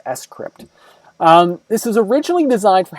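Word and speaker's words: scrypt: s crypt so it to me I always want to say script when I look at it but it's actually pronounced s crypt this was originally designed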